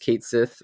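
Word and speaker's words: Cait Sith: where they meet uh I would never have guessed that it was Kate pronounced Kate Sith I think I was like made fun of for you know back in the day for for pronouncing it that way yeah but that's the way the game went with and and Kate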